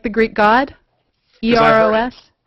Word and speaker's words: Eros: A friend of mine who studies asteroids says it's actually Eros. And it's like, well, and I said, yeah, but nobody's going to call it that. Everybody calls it Eros or Eros.